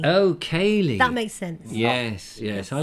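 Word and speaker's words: céilí: Oh, pronounced Cayley. Oh, Cayley.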